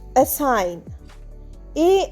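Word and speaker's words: assign: এসাইন এস এস আই জি এনসাইন। এখানেও কিন্তু জি silent জি আর এন পাশাপাশি আছে।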